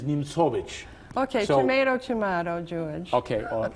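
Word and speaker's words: Nimzowitsch: A lot of English speaking chess players refer to the player as Nimzovich. But the correct pronunciation of this player, who was born in Latvia, settled in Denmark, is Nimzovich.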